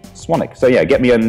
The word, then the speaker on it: Swanwick: so it's speltz even though it's pronounced swan 'ok so yeah get me on me on my